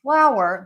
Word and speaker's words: flour: So for flower, we're going to open and move our mouth a lot.